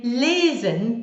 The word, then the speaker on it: lesen: And then lesen, the verb to read, lesen, lesen. That might help you. So bitte and lesen might help you remember the sounds of E